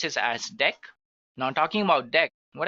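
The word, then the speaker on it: deque: next one that we have which is actually deck guys it is written as DQ but we can pronounce this as deck now talking about deck what actually it is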